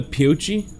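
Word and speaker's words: Pioche: as I head out I'm in Poochie yes that's pronounced right if the coastline mining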